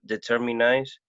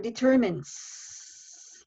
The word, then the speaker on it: determines: force good thank you just one word determines the last one on determines even though i just explained that you have like here this word is an exception determines okay that was that